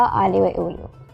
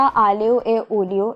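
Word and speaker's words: aglio e olio: उसका नाम है पास्ता आलियो ए ओलियो। अच्छा, वैसे ये प्रोनाउंसिएशन इसकी थोड़ी सी मुश्किल हो जाती है, क्योंकि इसको हम लिखते हैं थोड़ा सा ऐसे हैं कि AGLIO, फिर E, फिर OLIO।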